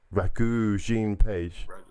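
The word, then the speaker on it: Regé-Jean Page: I've not seen Bridgerton, but how do you pronounce this actor's name? Rege-Jean Page.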